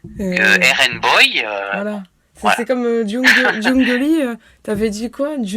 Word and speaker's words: Jungeli: Voilà c'est comme Jungolly. Tu avais dit quoi ? Jungelie ? Non c'est Jung.